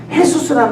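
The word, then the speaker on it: Jesús: 헤수스라는 말 들으셨죠? 헤수스가 스페인 말 아니면 포르투갈 말인데요. 그 J를 H 발음해서 그런 겁니다.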